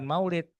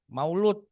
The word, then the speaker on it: maulid: Bahkan maulid sudah berubah bergeser baca bacanya bukan maulid, maulud gitu. Lama-lama jadi mulut, lama-lama jadi mulutan ya.